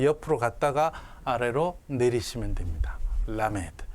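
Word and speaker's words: למד: 라메드가 아니고요. 라메드라고 하지 마십시오. 절대로 라메드. 그러니까 강세도 앞에 있습니다.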